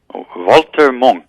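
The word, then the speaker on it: Walter Munk: Is it Walter Monk? Walter Monk is how you pronounce it in Austria, where he's from.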